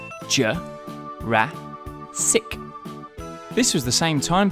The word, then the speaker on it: Jurassic: years ago in the Late Jurassic period Jay rat sick this was the same time period as Brachiosaurus